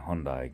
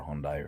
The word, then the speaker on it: Hyundai: a huge amount of traction from Kia and Hyundai guys that have come to the channel and there is the average person that has you know like an older Hyundai or something like that Kia Hyundai somebody said